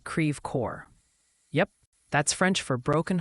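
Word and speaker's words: Creve Coeur: That one's pronounced creor. Like cre core.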